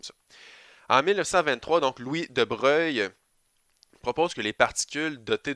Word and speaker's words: Broglie: monsieur de breuil donc cette éclipse de broglie mais ça se prononce de breuil qui a amené cette